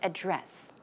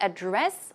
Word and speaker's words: address: But here we've got the word address. It can be pronounced two ways, right? 주소를 뜻한 때는요. You can say address or address.